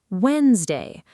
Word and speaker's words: Wednesday: Wednesday. Look closely at the spelling. Wednesday. There's a D sitting right after the first syllable, right between the wed and the ness. Nobody says that D.